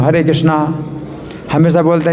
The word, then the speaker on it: कृष्ण: और मंत्रहीनम, तो मंत्र में जो है अगर मान लो कोई गलती हो जाए, हम बोलते हैं रामा हरे कृष्णा, तो वैसे तो हरे कृष्ण है, हम बोलते हैं हरे कृष्णा, तो इसमें कुछ नहीं अंतर पड़ता है।